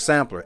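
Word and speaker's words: Samplr: But Sampler, S-A-M-P-L-R is how it's spelled.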